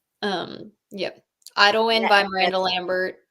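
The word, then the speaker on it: Idyllwind: which is it you better say the word because I don't want to mispronounce it. So it's Idlewind. Yep. Idlewind That by Miranda that's Lambert.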